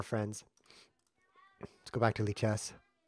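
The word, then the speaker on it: Lichess: let's go back to leech s this is by the way pronounced leech s li CH s is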